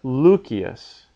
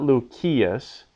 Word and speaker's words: Lucius: as in nihil or Lucius so it's not Lucius it's Lucius because that I is going to be short because it comes in front of another vowel a vowel before NT ND